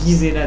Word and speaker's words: Gisela: de Gisel euh non Gisela d'ailleurs parce que le G en allemande ça se prononce g ou Gisela mrevelli donc une allemande